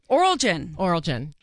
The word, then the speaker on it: Oralgen: I'm going to say it wrong, so help me out. Oralgen. It is a good time right now to get your gifts, so why not get Oralgens? Please, you got it. You said it right.